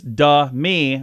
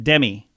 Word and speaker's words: Demi: Demi Moore on the record her name is du me rather than Demi so I do say it right Demi more